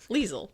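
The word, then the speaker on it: Liesel: Lethal rhy or leis lethal rhymes with diesel. You can use my name. Leisel.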